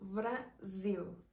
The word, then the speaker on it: Brasil: Aquí se le menciona como Brasil. La Z y se le pronuncia muy fuerte.